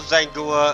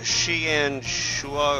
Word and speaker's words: Xianghua: in this episode um I know zanga um really isn't the way that it's pronounced as like uh sh and shua or something like that but uh I look